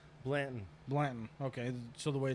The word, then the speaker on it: Blanton: how you say your last name Blandon Blandon okay so the way it's spelled um I haven't known you for too